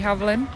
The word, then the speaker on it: Havlin: Helen's manager Rosie Havlin. Is that Have I pronounced that right?